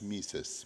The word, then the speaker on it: Mises: so tell us about uh menos Marx M mises movement in Brazil did I pronounce that all right yes uh it's a